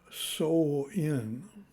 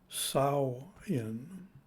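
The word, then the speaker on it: Samhain: But really, the pronunciation is peculiar as compared to the English spelling, but really it's pronunciation of sow in. A different pronouncer pronounced it sow in, And of course, the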